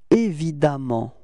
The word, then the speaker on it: évidemment: So it's évident, repeat, évident, okay, and it does give you this évidemment pronunciation, okay?